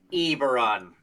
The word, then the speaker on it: Eberron: robots by the way i think you're the only person who pronounces it eberon as opposed to aberrant or whatever aberon yeah i see most people go with the short e e eberron uh this reminds me